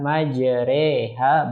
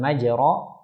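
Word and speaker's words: مَجْرٰىهَا: Nah, dikata majreha bukan majro, yang tepat majreha.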